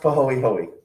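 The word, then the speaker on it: pāhoehoe: a's um this is pronounced and this is pronounced pahoey hoey you do pronounce the ease uh and so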